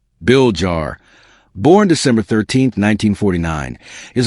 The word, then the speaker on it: Villar: Manuel Manny Bomba Villa Jr. Tagalo pronunciation Bill Jar born December 13th 1949 is a Filipino businessman and former politician.